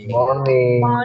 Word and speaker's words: morning: Morning. Boleh R-nya R-nya gak usah terlalu jelas. Good morning. Good morning. Good morning. Boleh R-nya dipakai enggak juga enggak masalah.